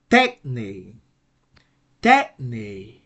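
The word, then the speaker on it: τέχνη: a two syllable word we have an acute accent that will that will um rise the tone on that will increase the tone on the first syllable so the right pronunciation would be tech tech that's a Greek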